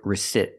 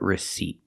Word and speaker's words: receipt: receipt not receip but receipt and remember the p is silent don't pronounce that P receipt this is a